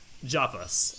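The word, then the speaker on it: Japas: most likely javis because in the Japanese version it's pronounced with the J sound not an ape sound so that's not a HJ that is a J dairy so javis and probably I don't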